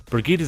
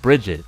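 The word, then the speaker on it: Brigitte: Go-Goat, Brigitta's addition to the game created the current meta strategy called Goats. Pidgeot, commonly mispronounced as Pidgeot, like Brigitta is mispronounced as Bridget.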